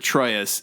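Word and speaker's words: Troyius: They call they pronounce it Troyus.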